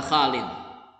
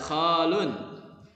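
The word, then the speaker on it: خالٍ: Inna hadzal maq'ada khalin. Tidak boleh dibaca khalun. Enggak boleh. Khalin.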